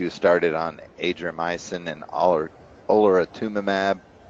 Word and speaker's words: olaratumab: And then in February of this year, she was started on adriamycin and olaratumab. How do you pronounce that?